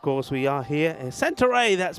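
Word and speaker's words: Santarém: So, of course, we are here in Santa Ray. That's pronounced I'm told.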